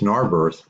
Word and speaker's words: Narberth: Nahor Narbonne our birth our birth divided into two syllables Narberth the chief palace of twill the wise is a common English word birth or home for a